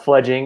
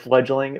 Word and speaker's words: Fledging: First of all, I appreciate you saying it right. Fledging is what we are. A lot of people go with fledgling.